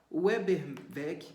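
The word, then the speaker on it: Ueberweg: como gompers não sei como é que se pronuncia isso g o m p e r z weberg weberg u e b e r w e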